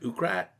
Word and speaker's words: Wakrat: Technically, in Hebrew, it's Wakrat. Oh, but yeah? then when my dad moved to Canada, he wrote it O-U-A, like phonetically French, like Wakrat. And then we moved to like the English side of town, and everyone just said Ukrat.